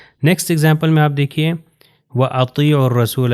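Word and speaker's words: أطيعوا الرسول: Example میں آپ دیکھیے وَأَطِيعُوا الرَّسُولَ، یہ دیکھیے واو الف اس میں نہیں پڑھا جائے گا، اس میں بھی الف اور لام نہیں پڑھا جائے گا، تو یہ ہو جائے گا وَأَطِيعُوا الرَّسُولَ۔ یعنی ان جو دو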